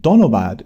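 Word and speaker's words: ধন্যবাদ: Tumi ke monacho is how you ask someone how they're doing in Bengali, and donobad is how you say thank you.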